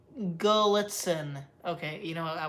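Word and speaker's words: Gallitzin: Go to Crescent, Gallatin. Pronounce, Gullitzen.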